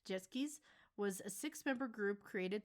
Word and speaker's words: Sechskies: what is this group zis properly pronounced as jetskis was a six-member group